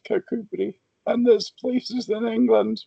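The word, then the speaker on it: Kirkcudbright: For example, uh cakubri. Yeah, it looks like it should be pronounced kak k right, but it's kakubri.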